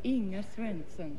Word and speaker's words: Inga Swenson: Well, if you want to be authentic, it's pronounced Inga Swenson. Inga Swenson. From Omaha, Nebraska. From Omaha, Nebraska. But you can say Inga Swenson. I can say Inga Swenson.